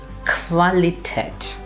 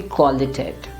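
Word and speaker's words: Qualität: at this word so the pronunciation would be qualitat it will not be qualitative that's a danger if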